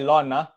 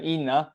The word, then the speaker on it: ln: Guys, this one right, yang ni kamu sebut dia sebagai ln bukan in This is not in guys. A lot of people tell me in. In tu salah is pronounced as ln.